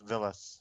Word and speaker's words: Villes: Well, it's pronounced Villes.